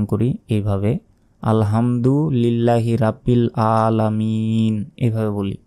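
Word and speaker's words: الحمد: আল হামদু আলহামদু নয় হামদু এখানে বড় হা রয়েছে গলার ভেতর থেকে উচ্চারণ হবে আল হামদু লিল্লাহি লিল্লাহি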